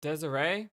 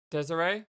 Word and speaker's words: Desirée: yeah but according to desiree is actually saying by the way desiree it's not desire i'm just gonna stick